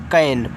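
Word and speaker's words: can: तो जैसे यहाँ पे सी ए एन दिया है तो सी को आपको का बनाना है, ए का उच्चारण एक ही मात्रा के रूप में हो गया कै, और यन से आपका बनेगा ना, ए लिखा हुआ है आपका कैन, और कैन का मतलब होता है सकना।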